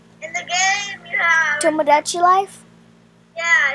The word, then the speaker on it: Tomodachi: Tomodachi Life? Yeah, it's hard to pronounce. It sounds like Tashinima. It's Tomodachi.